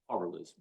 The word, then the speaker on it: Hawrylycz: H, or I can try to attempt to pronounce his name, Mike Hawrylycz. Did I get it? Yeah, Hawrylycz.